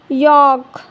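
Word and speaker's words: yolk: तो एग्ज़ाम्पल देखिए काम, could, Fock, यॉक। T silent यानी टी कब साइलेंट होता है?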